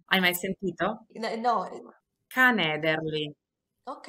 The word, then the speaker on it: canederli: c'è un piatto in particolare che si chiama canederli i canederli Cannelle hai mai sentito canederli Ok è un po' difficile da pronunciare Sì i canederli sono una specie di